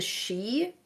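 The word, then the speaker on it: Aos Sí: basically turn into the, I'm gonna pronounce this really wrong, but I want to say it's Esshi. And so the Esshi are basically, they are the descendants of the Tuatha that live in this other world, but can still interact with humans. Interesting. I've heard it pronounced the she, not the eshi, but that's just. I Yeah, also may not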